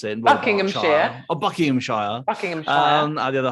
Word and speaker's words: Buckinghamshire: I don't know how you pronounce it. Buckinghamshire.